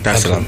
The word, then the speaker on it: Dar es Salaam: of the 7th, to come straight to Tanzania, Dar es Salaam. Did I pronounce that right? Yeah. Dar es Salaam.